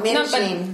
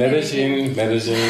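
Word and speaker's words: Medellín: Oh, Medellin. No, Medellin.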